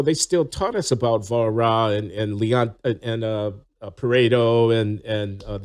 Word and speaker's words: Walras: I was just reading Walras and Marshall this past week, and they're like, Volra is what we say. Volra.